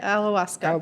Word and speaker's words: ayahuasca: So let's talk about your ayahuasca, or how you pronounce it. Yeah, ayahuasca.